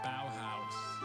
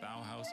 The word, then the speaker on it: Bauhaus: Bauhaus. I think that's actually the Fuma Shield, is what I've literally just typed out. Bauhaus is the only pronunciation.